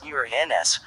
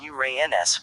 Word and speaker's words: Uranus: The pronunciation of the name Uranus preferred among astronomers is Journes Uranus, with stress on the first syllable as in Latin Uranus, in contrast to Gerenes Uranus, with stress on the second syllable and a long a, though both are considered acceptable.